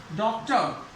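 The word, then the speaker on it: doctor: जैसे डॉक्टर, यह आया अंत में आर, उच्चारण नहीं होगा, डॉक्टर, ए पे रुक जाएगा, डॉक्टर।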